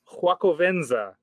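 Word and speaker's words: Xocoveza: This one's called Huacovenza, spelled with an X like the Aztec.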